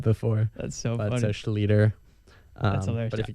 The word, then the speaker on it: Schlueter: Well, it's actually the correct German pronunciation is Schlueter, and then one of my relatives just switched it up a few years ago. So Schlueter is technically, you're saying it correct. If we were in German, all the Germans would call us Schlueter, but someone changed it.